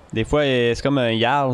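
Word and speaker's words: Jarl: Des fois, c'est comme un Yarl. Ça s'écrit avec un J, mais ça se prononce Yarl, tu sais.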